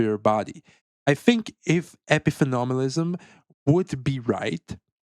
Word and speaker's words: epiphenomenalism: I think it's pronounced epiphenomenalism.